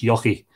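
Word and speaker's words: Eochaidh: Yeah, that's how it's pronounced. Euchaidh, yucky. Apparently, you put a bit of a Y in the front of it.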